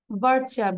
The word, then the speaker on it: butcher: বারচা, BUTCHER, আমরা ER এর উচ্চারণটা আ হয়ে যাবে।